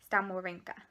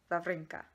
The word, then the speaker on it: Wawrinka: then we watched Stan Wawrinka, or Wawrinka, I think is how you pronounce it. I think it's the W, the V.